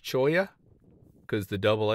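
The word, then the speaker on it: cholla: choya c h o l a but it's pronounced choya cuz the dou L they look so fluffy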